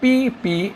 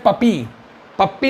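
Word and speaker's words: puppy: है और भी देखि अगर हम बोलते पी यू प प बाय पी यू पी प बाय तो इसको हम बोलते हैं पपी पप्पी नहीं बोल सकते पपी यानी पिल्ला होता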